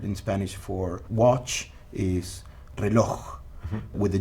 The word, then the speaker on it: reloj: Spanish for watch is reloj, with a J at the end. You don't say reloj. You don't pronounce it. You say reloj. So it's kind of a silent J.